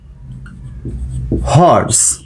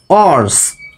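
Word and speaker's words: horse: আমরা এখানে উচ্চারণটা কেমন করি? হর্স। এখানে হ আসছে না, নাকি আমরা এইটা বলি অর্স? আমরা কেউ তার হর্সকে অর্স উচ্চারণ করি না, তাহলে এই উচ্চারণটা ভুল।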